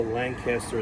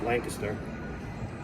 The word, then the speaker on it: Lancaster: And also Lancaster is pronounced Lancaster. And if you're from the south, it's Lancaster. Like you say it fast with Lancaster.